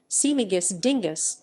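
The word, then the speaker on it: Śmigus-dyngus: dingus day in central europe smigus dingus polish pronunciation simagus dingus also lainey ponadzielic meaning wet monday in polish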